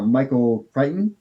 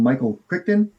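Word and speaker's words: Michael Crichton: Um also, I like uh Michael Kightton. I I for so long I called him Michael Kricton because there's a C and an H in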